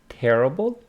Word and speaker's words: terrible: So here we got terrible, stress on the first syllable. Here we have terrific on the second. Terrific, terrible, terrific. Let's see what terrific means.